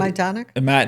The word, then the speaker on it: Majdanek: Majdanek? I'm saying it wrong. Majdanek.